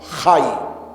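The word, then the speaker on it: חי: Eso se pronuncia Hay.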